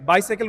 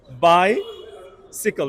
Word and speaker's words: bicycle: দিচ্ছি প্রথমে কি বলেছিলাম রাইট বাইসাইকেল উচ্চারণ হবে বাইসিকল রাইট তারপরটা কি ছিল অ্যানালাইসিস